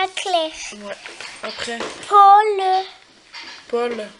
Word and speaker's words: Paul: Paul, on dit. Paul. Comme le pôle Nord.